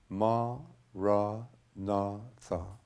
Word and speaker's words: maranatha: you choose this word say it as four syllables ma ra na ma ra na I